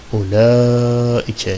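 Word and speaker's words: أولئك: Ulaike şeklinde okunur bu. Elif var yok. Onlara dikkat et. Gizli vardır ya.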